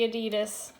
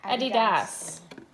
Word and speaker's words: adidas: here we have the adidas i'm saying it wrong i know we say that here in north america but it's adidas so here we have the